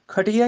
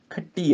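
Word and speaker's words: ਖੱਟੀ: नानका दोही खटी है खटी है ऐ दे नाल उच्चारण होएगा ते खके ते अधिक पै जाएगी खट्टी है। खटिया नहीं बोलना खट्टी है भाव खट्टी कमाई।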